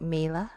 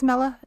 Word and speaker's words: Mela: do we say like mea Mela no it's Mela it's uh uh Mela rhymes with Bella rhymes with Ella umbrella and that is my